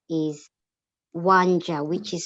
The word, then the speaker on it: Wanja: Yes, and as a matter of fact, my traditional name is Wanja, which is spelled WANJA.